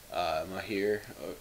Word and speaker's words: Mahir: Mahir, that's how you say it.